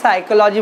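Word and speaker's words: psychology: तो physics, maths, chemistry are the example of natural science, while the साइकोलॉजी, हाँ ये PSY साइकोलॉजी बोलते हैं, हाँ फिजिक्स नहीं बोलते साइकोलॉजी, पी साइलेंट है, हाँ रिमेंबर।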